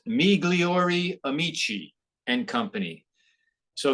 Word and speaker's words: Migliori: it so good it's migliori Amici and Company so if you take the eyes in there and you pronounce them like long ease me gleor Amici and Company it's Italian